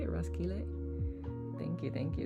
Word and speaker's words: Roskilde: Roskilde. Is that how you say it? Roskilde?